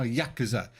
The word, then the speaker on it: Yakuza: second how do you pronounce Yakuza oh Yakuza they put more of an emphasis on the yak all right got it